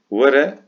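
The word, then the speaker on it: were: Vere, here. Yine W Türkçedeki ve Y yakın bir şekilde okunuyor.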